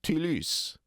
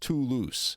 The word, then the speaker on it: Toulouse: I'm going to use the French vowel "ee" Toulouse. But he's saying it wrong because t o u l o u s e in French, it's pronounced too loose, not too loose.